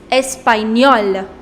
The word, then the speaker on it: Espagnol: Now the corresponding nationality is Espagnol, Espagnol. In order to make it feminine, I applied E. And the pronunciation is same. Espagnol, Espagnol.